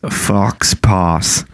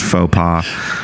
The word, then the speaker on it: faux pas: And Kendall said, wouldn't it be funny if we did an episode on funny accidents, fox pas? I believe it's pronounced faux pas.